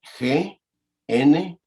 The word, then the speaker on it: gnosis: Mire, la palabra para conocimiento en el griego es la palabra gnosis. Se escribe G-N-O-S-I-S, gnosis. Digo, la G, como quien dice, es como muda y quiere decir literalmente conocimiento.